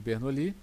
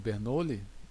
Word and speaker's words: Bernoulli: Dando prosseguimento, eu queria citar vocês aqui vários efeitos, né, da equação de Bernoli ou equação de Bernoule, depende aí da da sua pronúncia.